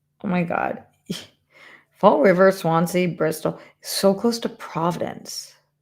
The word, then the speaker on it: Swansea: I have ice cream barn in Swansia. Where the is Swansia? Huh? Never heard of it. Just don't know it. Um, all right. Swansea.